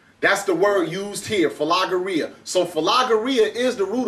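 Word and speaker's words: φιλαργυρία: avarest love of money so the word is like it's pronounce something like fageria that's the word used here fageria so fageria is the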